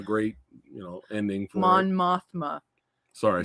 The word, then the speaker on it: Mon Mothma: end on a great, you know, ending for Mon Mothma. Sorry, I said it wrong. No, he said Monathra.